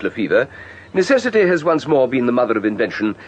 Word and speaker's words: Lefebvre: Spelt Lefebvre, but pronounced Lefevre.